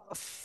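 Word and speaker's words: ق: জিহ্বার গোড়া তারপর আবার উপরে তালুর সাথে লাগাবো, লাগিয়ে মোটা আওয়াজে চার লিপটা নিয়ে উচ্চারণ করব। কফ। শেষে এসে হালকা বাতাস বের হবে মুখ দিয়ে কিন্তু।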